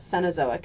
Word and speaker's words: Cenozoic: ago Mark now the cenozoic is divided into two periods and by the way you can pronounce that cazic as well it's divided into the